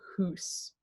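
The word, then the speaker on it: hús: Then a long U with an accent makes an oo sound, so hus.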